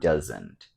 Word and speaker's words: doesn't: sounds like Z and usually we don't pronounce the T sound and dozen sometimes we